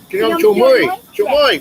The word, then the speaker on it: ខ្ញុំជួយ: Jamoy. Yeah. There's a word. There's a word that comes very close to Jamoy. If you say it wrong, Yeah. it means something offensive.